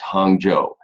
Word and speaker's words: Hangzhou: That's pronounced Hangzhou.